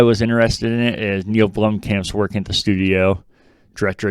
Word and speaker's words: Neil Blomkamp: You're close, if not there, Neil Blomkamp.